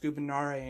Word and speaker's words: gubernare: word gubernare it's pronounced gubernare in classical latin because there is no v in classical latin and gubernare means to